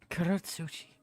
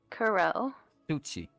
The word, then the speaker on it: Kurotsuchi: Kurotsuchi. Slower, please? Kuro. Repeat after me. Okay. Kuro. Kuro? Kuro. Kuro. Suchi. Sushi? Suchi. Sushi? Suchi? Yes, Kuro Suchi.